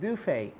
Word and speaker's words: buffet: আপনি যদি এখন বলেন বাফেট offer, বাফেট, I like there বাফেট, I like the this that, is ইট এ, I mean, that's a wrong pronunciation, that's buffet.